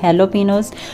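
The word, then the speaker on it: jalapeños: वैसे तो वो जे से लिखा जाता है, लेकिन उसकी प्रोनाउंसिएशन एच से होती है, मतलब हेलोपिनोज।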